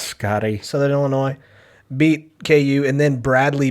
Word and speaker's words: Illinois: think the next year don't pronounce the s scotty southern illinois beat ku and then